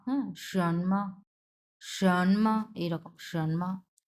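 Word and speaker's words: 什么: number কি আছে দেখেন সনমা হ্যাঁ সনমা সনমা এইরকম সনমা সন টা হচ্ছে দুই নাম্বার টন সো সন এইভাবে উচ্চারণ হবে ম এটা নিউট্রাল টোন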